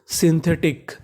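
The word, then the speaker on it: synthetic: SY को पढ़ते हैं हम लोग शी, यानी अगर आपको इंग्लिश में कहीं पर SY लिखा मिला है तो उसका उच्चारण सी करना है।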